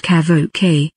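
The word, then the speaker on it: CAVOK: in feet or meters kavak pronounced kavo k temperature and dew point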